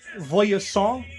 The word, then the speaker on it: Voyseaunt: And he is the captain of the Voyasant, which is VOYSEAUNT. And it's pronounced Frenchly.